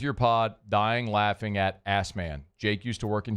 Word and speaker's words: Asman: How do you spell it? ASSMAN.